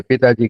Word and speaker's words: पिताजी: அதே மாதிரிங்கய்யா, எப்படி மேக்கு வந்து நான் சொல்லும் பொழுது மே சொன்னா போதும், இன்னும் வந்து அழுத்தக்கூடாதுன்னு சொன்னனும். அதே மாதிரி சொல்றதுக்கும் சொல்றதுக்கும் கடைசீட்ல வர்ற இன்னையும் அரை மாத்திரையில தான் உச்சரிக்கணும். பூன்னு ஹைன்னு பூன்னு இப்படின்னு அழுத்தக்கூடாது. இன்னும் அரை மாத்திரையில சொன்னா போதுங்க.